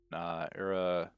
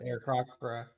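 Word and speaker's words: Aarakocra: there's this bird folk, Arakocra, I think is how you say it, right? Do you know, Joe? I've always pronounced it Arakocra. Arakocra.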